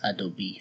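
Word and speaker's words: Adobe: باز میکنیم پوشه نرم افزار رو و ادوب ادوب ریدر رو باز میکنیم. تلفظ درست شرکت ادوبی هستش.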